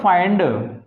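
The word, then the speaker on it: find: आप इसको यहां पे ई नहीं बोलते, फिंड नहीं बोलते, क्योंकि अब से हमने पहले पढ़ा था फिंड, है ना। फिंड, हिंड, फिल, मिन, ये नहीं पढ़ सकते हम यहाँ पे। क्यों? क्योंकि इनकी प्रोनाउंसिएशन ही चेंज हो जाती है और ये हमें आई बोला जाता है, ठीक है ना।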